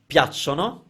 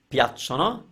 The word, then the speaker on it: piacciono: Check your pronunciation of piacciono, piacciono, don't say it any other way, and remember the definite article for when you like nouns.